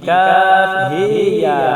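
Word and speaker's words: كهيعص: Demikian juga pada lafaz Kaf Ha Ya Ain Shad, Imam Abu Amr mengimalahkan huruf ha pada Kaf Ha Ya menjadi Kaf He Ya Ain Shad.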